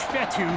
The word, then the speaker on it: Fetu: So Coach Fetu, spelled F-E-T-U, for the longest time I was pronouncing it Coach Feta, like feta cheese, so let's just say I'm